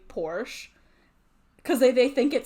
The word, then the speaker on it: Porsche: Like, yeah, it's officially pronounced Porsche.